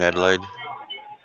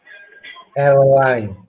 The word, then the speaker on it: Adelaide: Another Aussie here in Adelaide. Adeline, please say it right.